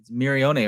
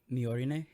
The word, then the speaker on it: Miorine: It's Mirione, right? Or it's Miorine. Miorine? Okay. Yeah. I was saying it wrong that whole episode.